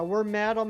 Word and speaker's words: Wormadam: Yeah, we're Madam and Moth him. Yeah, I just I never realized it was supposed to be pronounced were madam.